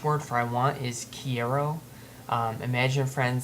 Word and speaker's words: quiero: and then you have the pronunciation here on the right so key Arrow hero remember the Taco Bell commercial that said yo quiero Taco Bell I want Taco Bell so kiero um then you got